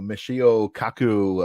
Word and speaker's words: Michio Kaku: down all the time but uh you know Michio Kaku uh I think that's how you pronounce his name correct yes you know he